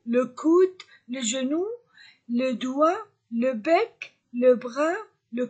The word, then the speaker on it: doigt: coude le genou le doigt je ne prononce pas g je ne prononce pas t le chien le cou